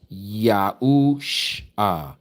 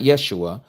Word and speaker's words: Yahusha: That spells Yahu Sha. That's his name, not Yeshua. Yeshua again is Aramaic, that's not Hebrew.